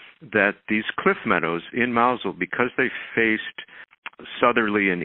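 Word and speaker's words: Mousehole: gardening we lived in a village called mausole it's spelled mouse hole we lived in Loveland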